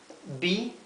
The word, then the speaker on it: bee: Fíjense que al igual que la doble O se pronuncia U en inglés, la doble E en inglés se pronuncia I, ¿verdad? I. Así que esto aquí se pronuncia bee, con la I larga, bee, al igual que sheep, sheep, bee.